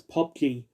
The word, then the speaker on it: PUBG: to think but p-u-b-g you do not pronounce his letters you pronounce it as pop g unless you want to